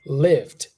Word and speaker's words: lived: do you say that you're not saying leave leave but it's live remember live in lived lived lived so you do want